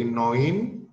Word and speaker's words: neun: 9, neun, kayak tadi, OI, EU dibaca OI, jadi neun.